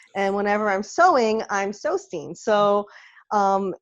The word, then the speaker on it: Sewstine: how to pronounce it some people say so stein i don't really care as long as you know how to spell it but the scene is